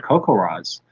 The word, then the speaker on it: CoCoRaHS: to measure and monitor rainfall, please check out CocoRaz, and that's spelled CoCoRAHS.